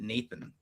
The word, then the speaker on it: n8n: to Lindy, and the Lindy folks called it Nathan.